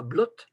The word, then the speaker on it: blot: On écrira blot avec un D, donc on saura qu'il faut dire blot et non pas blot, parce que BLOT, ça devrait se prononcer comme clot. Or, on prononce blot, donc c'est un O long, donc c'est devant un D, puisqu'on dit bloden.